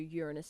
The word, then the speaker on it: Uranus: Saturn years in Uranus and Neptune once again Uranus is how it's pronounced stop it which can be seen at